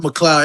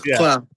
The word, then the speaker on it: Cloud: It's Cloud, not McCloud. Everybody loves saying his name wrong. It's Cloud.